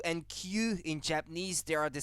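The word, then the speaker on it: 九: Because Q and Q in Japanese, they are the same thing. Because Q is how you say 9 in Japanese.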